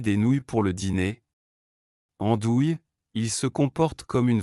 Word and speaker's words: andouille: En français, les mots se terminant par ouille se prononcent oui. Nouilles, j'ai cuisiné des nouilles pour le dîner. Andouille, il se comporte comme une vraie andouille.